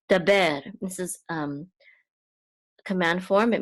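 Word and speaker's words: דַּבֵּר: And then this is a dalet with a patak, so this says da, and this is a bet with a sere, so this says be, and this is a resh, which is part of that syllable, so it's ber, daber.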